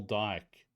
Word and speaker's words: Dyke: Dick. Which one are you laughing at? Small dick. Excuse me, it's pronounced. Where do you see that? It's called Small Dyke. Dyke is his name.